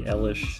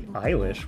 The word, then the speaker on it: Eilish: I was like, Billie Eilish? What? Why? Why are you pronouncing an E like an I?